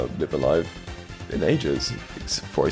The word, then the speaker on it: Live A Live: As for my money, the greatest RPG that was released in the year 2022 would have to be Live Alive, or Live a Live.